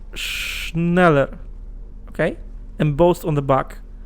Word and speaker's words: Schneller: brand name schneller schneller it's pronounced schneller it's just i think it's quicker in in german schneller is a stationary